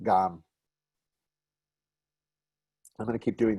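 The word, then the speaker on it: גַּם: Gum means also, right? Not gum like the kind you chew, and not gam, but gam.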